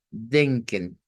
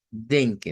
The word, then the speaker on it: denken: De acuerdo a esto, lo vamos a pronunciar casi como que fuera E. Y usted se le diría, mire, léalo como denken. Así sería, denken.